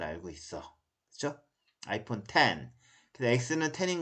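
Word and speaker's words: iPhone X: X는 10인 것은 뭐 어머니들이 아이폰 X라고 할 때 아이폰 이거 X라고 읽으면 좀 많이 창피한 거죠. 그 아이폰 10이라고 읽어야 되죠. 그쵸? 뭐 아이폰 XR은 10R 그렇게 읽어야지 어머니가 적어도 나는 로마 숫자를 잘 알고 있어.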